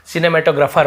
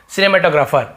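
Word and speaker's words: cinematographer: cinema वगैरा संभालता है उसे हम सिनेमैटोग्राफर पढ़ते हैं ग्राफ और ऐसे ग्राफर नहीं पढ़ते लेकिन समझने के लिए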